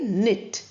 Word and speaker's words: knit: We say knit. C is pronounced K is pronounced as C. We don't have C sound here. Knit, knee, knuckle, knight, knife, and knowledge. All of them the N sound is pronounced.